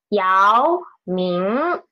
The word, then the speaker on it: 姚明: Yao Ming. Okay. 2 second tone syllables.